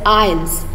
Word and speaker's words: Isles: So children, here you should pronounce this word as Isles.